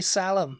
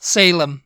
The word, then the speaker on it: Salem: there is there are some people who would pronounce it St Louis and the next one salum salum I used to say Salam yeah what Salam yeah I like Oh The